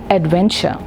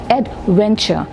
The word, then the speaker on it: adventure: another word which is Adventure here the syllable stress is on the middle syllable when adventure and not Adventure so ladies and gentlemen